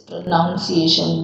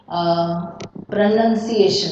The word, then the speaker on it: pronunciation: I want to just touch upon this pronunciation. When you say pronunciation, see here you will not say pronunciation. It is pronunciation. Have you seen this spelling here? PRONUN pronunciation. How will you pronounce the word?